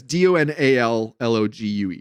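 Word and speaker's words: Donal Logue: I don't know how you pronounce his first name, but yeah, Donald Logue is how I've always said it. Yeah, it's DONALLOGUE.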